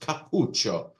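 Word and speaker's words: Cappuccio: one um and it's it may look a little bit like capuccino but there's no Eno in there it's just capucho is how we pronounce this one so nelo capucho is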